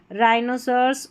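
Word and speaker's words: rhinoceros: RH को र करके pronounce करेंगे। यहाँ पर देखिए रिदम, राइम, राइनोसर्स और रॉम्बस, तो RH को आपने र प्रोनाउंस कर दिया क्योंकि H यहाँ पर साइलेंट है।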